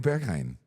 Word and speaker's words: Berghain: Wouldn't you say Berghein's? No, I love going to Berghain.